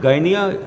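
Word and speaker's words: Gdynia: signed between polish shipping company in Guinea they pronounce it Ghanaian although the spelling is gd-y-n-i-a and Pakistan ocean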